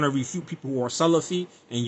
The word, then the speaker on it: Salaf: If you're saying you're trying to refute people who are Salafi and you're saying Sulaaf and the Aqidah of the Salaf, this is this word, man, in Arabic, you're not pronouncing it correctly.